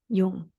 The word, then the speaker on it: Jung: But before we dive in, I know before you had a beautiful quote from young Pablo, I think last time you were on, but is that how you say his name? Jung.